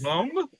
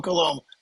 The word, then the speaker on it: Coulombe: Coulombe. Coulombe. Yes, Coulombe. I know. It's all vowels, so it throws people off. And the B is silent.